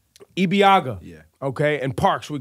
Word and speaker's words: Ibeagha: Sebastian how do you say your last name EB Agha EB Agha yeah okay and parks we could say that's